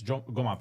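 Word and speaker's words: جمعة: And it's GMA prayer. Is that an Egyptian thing? You guys say GMA? Yeah. With a hard G. With a hard G instead of a J.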